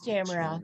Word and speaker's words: Tamara: Is it Tamara? From the Netherlands. Yeah. It's Tamara. Thanks for Tamara. asking about the pronunciation.